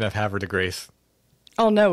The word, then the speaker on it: Havre de Grace: On the pronunciation of Havre de Grace. Oh, no, it's Havre de Grace.